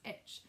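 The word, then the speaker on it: ITCZ: tropical Intertropical Convergence zone itch pronounced itch the itch follows the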